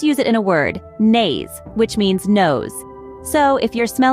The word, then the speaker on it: Nase: Let's use it in a word, nase, which means nose.